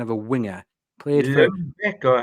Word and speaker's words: Ljungberg: Played for Lundbeck, or how you pronounce it, yeah. Lundbeck. I'll give you that. Freddie Ljungberg is the Yeah, current that's who I was holder.